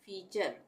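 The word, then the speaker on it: feature: फीचर, FEA फी बन गया और TURE चर, फीचर।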